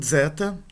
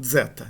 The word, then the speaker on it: zeta: E uma última letra dupla é o zeta, esse aqui, z, né? É uma dental com uma sibilante, seria um delta com...